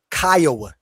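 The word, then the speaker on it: Kiowa: That the Oklahoma The Kawas are they Kya, not Kioa.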